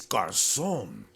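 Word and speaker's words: Garçon: You got to say it with the right accent. It's Garcon.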